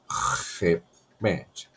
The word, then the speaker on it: repent: E esse R aqui não pode ser um R assim muito, né? Repent. Tem que ser um R mais no schwa, né? A gente fala no inglês schwa. Repent, né? Repent. O T tem que sair bem fraco, né? Repent. Porque os americanos, eles geralmente essas letras que ficam assim no final, eles praticamente eles não pronunciam na fala, né? Repent, né? Sai fraco, repent.